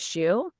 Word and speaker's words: Hsu: and the fact that like my last name which is shu it it's like sounds a little funny and growing up here in the American south a lot of people didn't know how to pronounce it because it's spelled hsu. So I got a lot of oh is that missuh you know like a